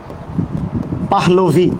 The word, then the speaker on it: পাহলভি: আমার নাম হচ্ছে পাহলভি। ইরানের একজন বাদশা ছিল যার নাম ছিল রেজা শাহ পাহলভি, সেখান থেকে পাহলভি নামটা এসছে, আরাবিক, মানে এই আর কি বিষয়টা হচ্ছে এরকম।